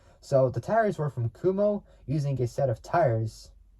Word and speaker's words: Kumho: How do you even say it? Kumo. There we go. Why did I put the H on it? That doesn't make sense. So the tires were from Kumo, using a set of